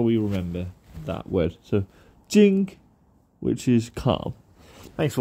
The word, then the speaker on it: 静: contend equals calm and the way that we pronounce calm is Jing Jing nijima nijima now a